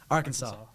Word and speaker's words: Arkansas: the state, like, heritage, like the pronunciation comes from when the French, like, were there before, like, the Louisiana Purchase. Uh-huh. And so, therefore, like, we would say, like, Arkansas in, like, a English, like, phonetic Oh. pronunciation, Yeah, of but course, yeah. Arkansas comes from the, like, French, like, Oh. pronunciation, Oh, I guess yeah.